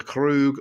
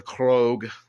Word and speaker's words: Krug: The Krug or the Krog, depending upon which pronunciation you want.